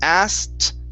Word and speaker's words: asked: Right up above it So it's asked Go straight to a T Asked Asked Asked Okay